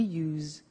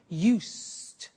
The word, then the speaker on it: used to: don't have now we use used to look at the spelling s it's it's u e d and then t o but the pronunciation is not used it's us unusual used okay so the example